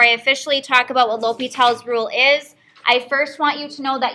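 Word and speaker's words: L'Hôpital: um so yes it is pronounced l'hopital's rule it is spelled like l'hospital's but we are going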